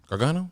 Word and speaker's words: Gargano: Gargano? Gargano.